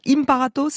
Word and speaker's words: Imparato: alors elle s'appelle du toit si je le prononce bien hymne par atos ça exactement fait parfait et ça veut dire